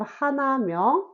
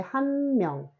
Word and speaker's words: 한 명: So instead of 하나명, we say 한 명.